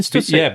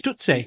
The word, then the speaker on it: Stussy: Oh, as in Stussy. Oh, I thought it was Stutsy.